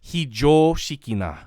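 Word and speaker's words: 非常識な: So today's word is hijoshikina. Now the O, you gotta extend it a little bit, or else you're not saying it right.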